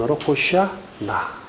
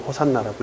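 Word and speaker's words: 호산나: 좋습니다 25절에 이제 구원하소서 원 호시아 나 천대 제발 구원해 주세요라는 뜻이죠 우리는 보통 호산 나라고 읽습니다 이후 호산 나는 여호와의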